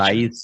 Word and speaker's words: Raíces: Ra, like the god Ra, Ses. Okay, gotcha. Raices.